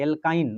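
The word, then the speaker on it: alkyne: minus एल्काइन है ना शब्द का इसको उच्चारण देखिए एल्काइन माइनस में जाएगा है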